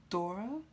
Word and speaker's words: Dora: It's Dora, like Laura, but with a D.